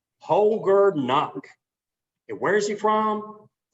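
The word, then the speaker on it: Holger Knaack: check it out poger knock that's how you pronounce his name holger knock and where is he from germany we think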